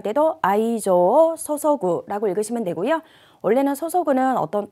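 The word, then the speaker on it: 注ぐ: 정렬을, 자, 이때에는 뭐라고 읽냐면은 소소구, 정렬을 쏟다, 기울이다 라고 해석을 하셔야 되고요.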